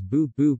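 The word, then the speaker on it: 不: used negating element is bubu pronounced with second tone when followed by a fourth tone this can be placed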